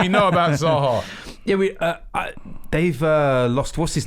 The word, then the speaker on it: Zaha: Zaha. Zaha. You said Saha.